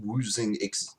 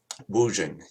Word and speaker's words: Wuxing: He's a upper mid-level woozing executive working for Woozing in Seattle. I'm sure I'm mangling the pronunciation of that, but if anybody would like to correct me... Woojing, yes. And he works for Woojing,